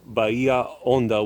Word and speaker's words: Bahia Honda: he built several landmarks like the baya ando bahia honda bridge it's in spanish this is pronounced by ia onda which means deep bay and the seven mile